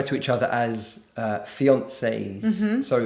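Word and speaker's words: fiancé: each other as uh fiances. Mhm. So the man is a fiance, the woman is a fiance but with a double e. Yes. And the pronunciation I think is the same.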